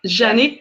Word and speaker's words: Janick: Am I pronouncing Janik right? Janik. It's yeah, Janik. Janik. Okay. Janik in French.